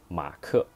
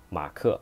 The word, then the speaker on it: 马克: 马克 that is the translation of the name Mark, because Mark sounds like 马克马克 Mark.